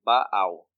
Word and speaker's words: Baal: And the pronoun of Baal here is Baal.